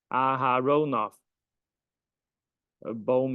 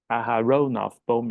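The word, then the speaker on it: Aharonov–Bohm: morning okay I check it is pronounced as aha this is ahar a ahar bom effect Aon bom effect okay so uh let's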